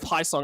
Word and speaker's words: Xiong: So there's Charles Teed, AJ Hobson, myself, Jeff Xiong, or Jeff Haisong. I actually asked him how it's said. He actually said it's just Jeff Haisong.